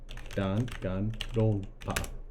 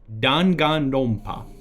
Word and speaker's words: Danganronpa: That's not how you pronounce Danganronpa. I'm gonna show you something. Danganronpa. Danganronpa. Danganronpa.